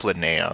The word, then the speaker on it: Linnea: I've been pronouncing her name as Linnea, so okay, I guess I got it right then.